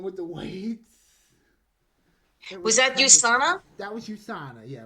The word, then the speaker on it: USANA: I learned the correct correct pronunciation for that. It's USA not USA but USANA. Yeah. No, you USANA like USA. Sorry. USA. Yeah, USANA.